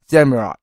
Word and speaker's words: Samurott: Well, it's more like Samurai, but less than you say it, because it's name pronounced Samurott.